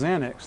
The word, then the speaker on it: Xanax: It's pronounced Xanax, though.